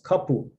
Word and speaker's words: kapu: elementary curriculum um so we can predict that stress in a little hawaii is going to fall on the second to last syllable we have examples of multi-syllabic words such as kapu penultimate stress same as wahine in a trisyllabic word